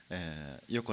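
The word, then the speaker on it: イヨコ: 、EYOKO、ね、で、うん、イヨコと読みます。エヨコじゃないですよ、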